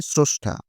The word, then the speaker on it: স্রষ্টা: ভ্রমণ একই রকমভাবে স্রষ্টা কিন্তু উচ্চারণ করার সময় স্রষ্টা ক্রম উচ্চারণ করার সময় ক্রম এই যে বানানে অচ্চারণের